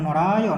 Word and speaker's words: নরায়: নরায়, দেখো এখানে নরায়, নরাই উচ্চারণ মোটেই করবো না, নরায় অন্তস্থ আছে বলে, এখানে হসন্ত নেই বলে নরায়, ঠিক আছে।